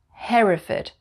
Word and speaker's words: Hereford: we say heartfit foot and number 22 is hereford hereford up in the north of england we